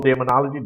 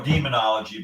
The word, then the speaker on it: Daemonologie: Is it Dual Daemonology? Daemonology, right? Yeah, you could say duo demonology, but we distinguish it a little bit by saying daemonology. It rolls better.